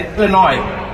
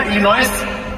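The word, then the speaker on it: Illinois: American जो होते हैं ना, ये आर वर्ड हो गया, एस जैसे इलिनॉय, राइट फ्रॉम मैं कहा इलिनॉयस, कहता नो इलिनॉयस, एस is silent, तो मैं पहले काट दो उसको, क्यों रखा हुआ फालतू।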